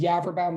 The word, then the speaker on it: Yaverbaum: And remember, my name is Yaverbaum. That is very easily mispronounced, but it does rhyme with cadaver town, if that helps.